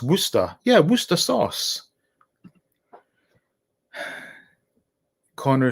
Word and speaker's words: Worcester: city as worcestershire is the county and it's pronounced worcester yeah worcester sauce connor says yeah it was